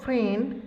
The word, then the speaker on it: friend: Now the words friend has the short E sound. Friend. Here I is silent.